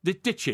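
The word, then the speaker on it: Dicki: Dicky. Isn't that Dicky? Ditchy. It's pronounced Ditchy.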